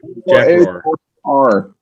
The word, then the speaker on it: Roar: Are you saying Roar? I think that's right. Spell it. R-O-A-R-O. It's Roar. Jack Roar.